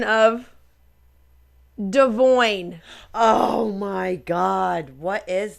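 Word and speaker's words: Devoin: Well, anyway, Nessa literally goes, so do you want us to call you Devoyne or Devon? How do you pronounce it? He's like, it's Devoyne.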